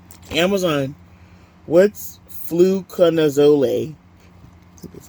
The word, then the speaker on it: fluconazole: What's fluconazole?